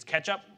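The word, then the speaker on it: k3sup: 3d there's a project case would it Sketchup but it's it's it's spelled k3 s up and this is for basically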